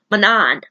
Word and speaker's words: Manon: Another good part, even though it was sad, was the 13 sacrificing themselves for Manon. Manon. How do you say? I always say her name wrong. I don't know why. Manon.